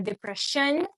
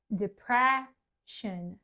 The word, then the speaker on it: depression: que a sílaba que vem depois do apóstrofo é que é a sílaba tônica. Então aqui eu sei que não é depression porque aqui não tem o apóstrofo antes do sh, mas sim depression.